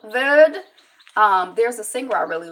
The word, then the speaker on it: Verde: So whenever I'm in a position where I have to, from the Cape Verde Islands, how do you pronounce it? Verde, Cap Verde.